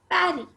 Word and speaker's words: Paris: the only reason when in french language we pronounce paris we say parry and write p-a-r-i-s paris i hope the previous